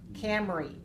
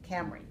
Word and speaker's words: Camry: When I say cam, that's K-A-M, C-A-M, Camry, R-Y, Camry.